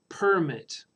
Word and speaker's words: permit: Picture it in your mind, P-E-R-M-I-T, permit. So when I stress the first syllable, permit, that's a noun.